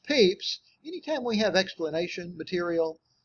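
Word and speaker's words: Pepys: right so since the Diary of Samuel peeps pronounced peeps anytime we have explanation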